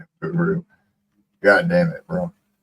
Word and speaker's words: Nibiru: I ain't gonna try to pronounce it again. Nauru. Nibiru. Nibiru.